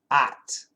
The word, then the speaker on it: ought: And the standard pronunciation is ought. But if you go to Boston, it's at. And if you go to LA, it's ought. And if you go to other parts, if you go to the UK, ought.